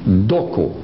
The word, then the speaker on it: Doko: They are named on their language, Doko. Dokos with an S if you want to. Dokos, phonetically what they call them, Doko.